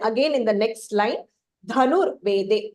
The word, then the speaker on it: धनुर्वेदे: And then again in the next line, dhanur vede. So the dha again is Mahapranah.